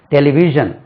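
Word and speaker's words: television: ஷா இருக்கு இல்லையா அதுபோல ஆங்கிலத்துல ஷா என்ற உச்சரிப்பு ஒன்னு இருக்கிறது ஷா டெலிவிஷன் டெலிவிஷன் டெலிவிஷன் ஜெனரலா எப்படி சொல்லுவோம் டெலிவிஷன் அது ஷா கிடையாது திஸ் இஸ் நாட் ஷா இதுக்கு நம்ம பவுனேட்டிக் சிம்பல்ஸ்ல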